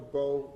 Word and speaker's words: Bowe: It's pronounced Bow or Bowie? Both. Bow. B-O-W-E.